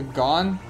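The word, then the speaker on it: Gohn: The gone? Yes. Okay. It's towards the bottom, ish. G O H N, or the gone, however you want to pronounce it.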